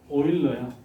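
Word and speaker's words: Euler: 되는 거야이 사람이 에디션 오일러요 오일러라고 읽어 독일 사람들은 자 어떻게 정의가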